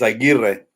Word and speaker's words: Aguirre: It's Aguirre. Aguirre. Yeah. What A is lot of that, people man? say Aguirre or Aguirre, but Aguirre is the way you Because pronounce it. is the R, are the double R's silence? No, you just roll them.